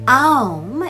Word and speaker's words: Om: affects the manifested phenomenon when correctly pronounced om is said to have four sounds the a emerges from the throat originating in the region of the navel the U rolls over the tongue and the M ends on the lips